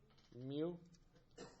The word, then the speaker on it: mu: know what this symbol right here is called mu good so it's pronounced your knew I've seen some people write